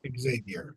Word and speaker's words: Xavier: Do you pronounce it Xavier or do you say Javier or Xavier's fine. Xavier?